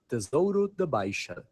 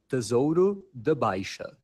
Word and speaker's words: Tesouro da Baixa: So the right way to say it in Portugal, the Portuguese from Portugal, the accent is Tesouro da Baixa. I'll say it again. Tesouro da Baixa.